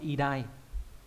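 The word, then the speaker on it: 偉大: Khi được một mình đúng nhỉ, còn ghép âm đọc là idai. Ví dụ trong từ vĩ đại đọc là idai luôn đấy.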